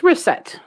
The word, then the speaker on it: Racette: How do you pronounce it? It's Racette.